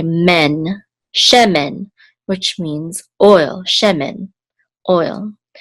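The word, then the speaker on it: שמן: is the accent mark, so the accent is on the first syllable, she. This is a mem with a segol, and then a nun sofit here. Together we'll say men, shemen, which means oil, shemen, oil.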